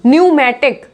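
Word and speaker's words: pneumatic: Next में भी न्यूमेटिक, क्या बोलेंगे इसको? न्यूमेटिक। तो देखा आपने पी यहाँ पे किस तरीके से साइलेंट है एस और टी के पहले।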